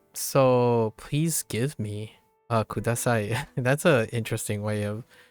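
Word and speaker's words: ください: That's an interesting way of looking at kudasai. Please give me. Or please, right? You know that the kanji right, ka, we know that as ka means down, and sai sounds like the word sigh.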